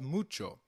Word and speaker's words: mucho: However, when combined with C, it is pronounced as ch, as in church. So, can you try mucho again? It's called mucho.